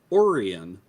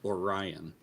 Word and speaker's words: Orion: Before I moved to this side of the state, we lived in Lake Oran, but if you're just reading it, it looks like Orion. Yep. Oh, constellation. Orion. That's just said wrong. That's just pronounced wrong.